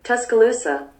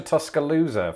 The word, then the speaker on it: Tuscaloosa: tuscaloosa is that right tuscaloosa oh i pronounced the s as a zed instead of an s which is an obvious mistake now that i've said